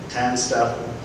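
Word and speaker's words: TANSTAAFL: Now, I asked for pronunciation on this because I haven't actually read this particular book, but I'm told it is pronounced as TANSTAFF, and it's the acronym for There Ain't No Such Thing as a Free Lunch.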